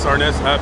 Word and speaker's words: Arness: Anyways, I know some of you guys thought that I was mispronouncing James' name in the beginning of the video, right? Arness.